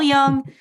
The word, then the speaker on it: Jung: Those of you who have seen Carl Jung, it's spelled Jung. Maybe you pronounce him Carl Jung. It's Carl Jung, and she is a master at his body of work.